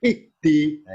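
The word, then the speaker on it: اهدنا: Kalau ketiga kasroh, alifnya ikutan kasroh. Ihdi. Nah, itu bacanya.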